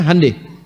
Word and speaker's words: Hyundai: Hyundai itu dibacanya Hyundai.